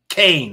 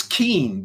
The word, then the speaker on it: Kean: Keane and Blumenthal Leslie Kane all right I'll say it right the lady spells her name k a an that's Keen to me but no she wants people to say Kan because she wants to